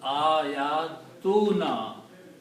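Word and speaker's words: آياتنا: So when you combine these two, they will be pronounced ayatuna. Because one dhamma is not going to be pronounced.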